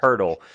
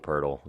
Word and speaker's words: Poeltl: Poeltl. It's because it rhymes with Wordle. That's the point. Yeah. Wordle, Poeltl.